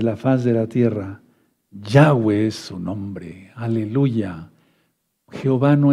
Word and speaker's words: Yahweh: las derramas sobre la faz de la tierra Yahweh su nombre Aleluya Jehová no es un hombre es allá Es Yahweh Porque jayá pueden buscar un vídeo que le